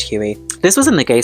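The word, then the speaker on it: Huie: Apparently her surname is pronounced Huey.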